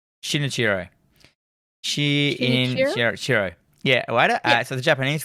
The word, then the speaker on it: Shinichirô: Shinichirô.